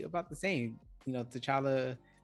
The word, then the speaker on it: T'Challa: the same you know t'challa actually charlotte the t is silent again that's his full